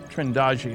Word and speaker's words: Trindade: And here's a sequence from Trindade, Trindade, I'm told it's pronounced, 600 miles east of the coast of Brazil.